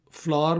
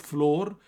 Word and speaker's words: flour: Bank Limited, the Kanpur Flour Mills Limited. अच्छा, अक्सर हमारे यहाँ FLOUR फ्लोर कहते हैं, फ्लोर mill. That's wrong. English pronunciation of FLOUR is not floor, it is flour.